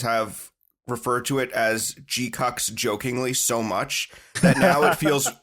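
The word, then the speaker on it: GQuuuuuuX: the new uh Gundam uh so it is pronounced gqu that's what they say in the movie right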